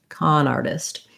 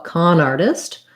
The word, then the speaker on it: con artist: the wrath of khan con artist has we stressed mostly on con a little stress on art and no stress on test con artist this t in artist uh is a flap t it sounds like a light d um and we just have the ar does say r so just like the word r and then this letter i says the e sound again like same as in hinder so a con artist con